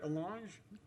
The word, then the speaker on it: allonge: And did I pronounce that word right, allonge?